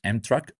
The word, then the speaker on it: MTRK: Which I've learned today that is pronounced M-Track.